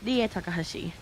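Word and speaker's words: Rie Takahashi: We pronounce her name as Dier. Dier Takahashi.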